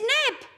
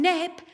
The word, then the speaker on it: neb: In English, it's toes and nose. Aye, that's right. Toes and nose. But in Scots, toes is Taes and nose is neb. And neb doesn't rhyme with Taes. Neb and Taes.